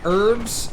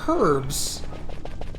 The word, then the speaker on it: herb: drop the h yeah herbs and herbs they say herb and we say herbs because we think the h is silent see even british english